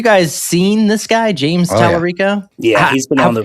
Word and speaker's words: Talarico: But James, I think his last name is pronounced Talarico. I don't know, and I honestly do not care if I'm pronouncing that right.